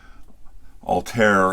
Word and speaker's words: Altair: I've been told I'm pronouncing it incorrectly. Altair as in hair.